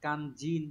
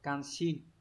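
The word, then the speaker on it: 肝心: Các bạn lưu ý này, từ này đọc là kanjin nhá, không đọc là kanshin.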